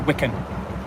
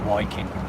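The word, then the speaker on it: Wyken: it's about w-y-k-e-n so some people call it Wiccan but it's not it's working it's pronounced working my name um some people pronounce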